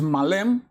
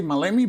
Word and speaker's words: Maleme: I think the pronunciation correct is Malem. I've heard people say Maleme, but I think it's Malem. And this is a game published by SNAFU.